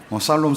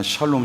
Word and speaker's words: 샬롬: 발음을 살롬 살롬이 아니라 샬롬 샬롬 샬롬.